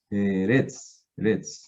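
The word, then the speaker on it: ארץ: Entonces, eso hace que aquí se termine la segunda sílaba. Eretz. ¿Listo? Eretz.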